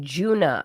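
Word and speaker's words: Djuna: It's like D-J-U-N-A, Juna. I think it's pronounced Juna.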